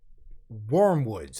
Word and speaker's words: Wyrmwoods: you can believe this we have wormwoods vern woods where more woods wormwoods woods wormwoods i'm going to say it like that okay with their album